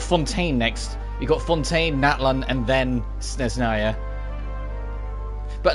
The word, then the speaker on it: Natlan: We got Fontaine, Natlan, and then Snezhnaya. But at least we now know that it's pronounced Natlan and not Natlan. Thanks. All right. There's more emphasis on the latter half of the word.